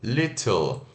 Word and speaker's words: little: T LT e o Little mas esse T pode ter o som de R Little yoga de jovem